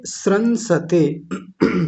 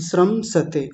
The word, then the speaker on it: श्रंसते: यह खूब आता है तो इसको क्या बोलेंगे श्रंसते श्रमसते ऐसा भी बोल सकते हैं।